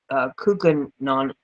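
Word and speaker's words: Koocanusa: In late August of 2015, there were reports of dead fish on Lake Kookanon, yes, that's how it's pronounced.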